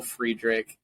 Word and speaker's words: Friedrich: on LinkedIn it's Friedrich and Friedrich is spelled fried Rich uh so you can